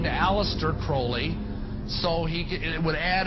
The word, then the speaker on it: Crowley: he likes to be have his name pronounced crowley to rhyme with holy and uh the satanists